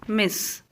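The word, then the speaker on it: Ms.: You may use MS and you have to pronounce as Miss. Dear Miss Ambekar.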